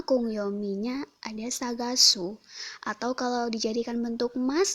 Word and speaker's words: 探す: dari coretan pertama sampai coretan ke-11 untuk cara bacanya Agung yang minyak ada sagasu atau kalau dijadikan bentuk mas jadi Saga Simas